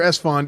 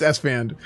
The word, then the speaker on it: Esfand: Is it Esfand or Esfond? Yeah, well, he doesn't know how to pronounce my name, but yeah, it's Esfand.